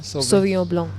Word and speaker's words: Sauvignon Blanc: do you pronounce that again? Sauvignon Blanc.